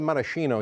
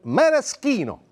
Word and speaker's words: maraschino: By the way, we call it maraschino here in the United States, but in Italy, we call them maraschino. CH is pronounced K.